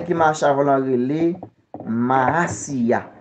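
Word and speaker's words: Mahasiah: Ange gardien qui marche avant l'an relé Maasiya. Maasiya s'écrit M A H A S I A H.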